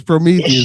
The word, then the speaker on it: Prometheus: I can't pronounce that big ass word, so what happened, Uncle P? It's Prometheus, man.